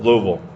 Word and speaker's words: Louisville: Louisville. Okay. Louisville. I always get it wrong. No, it's like the one pronunciation I can't nail.